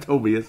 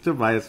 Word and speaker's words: Tobias: or is it no it's not toas it's Tobias Harris good game solid game